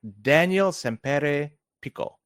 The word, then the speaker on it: Daniel Sempere Pico: Hopefully I pronounce it correct. Daniel Sempere Pico.